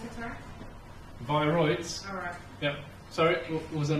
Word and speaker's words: viroids: How do you pronounce it, sir? Viroids.